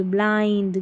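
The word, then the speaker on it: blind: यहां पर लास्ट में इन सभी के लास्ट में इ नहीं है फिर भी हम आई को क्या पढ़ रहे हैं आई पढ़ रहे हैं फाइंड ब्लाइंड ग्राइंड यहां पर देखिए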